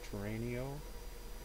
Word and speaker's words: Torano: Tonight, I have a Carlos, I believe it's pronounced Torano, or something of that sort, 1916.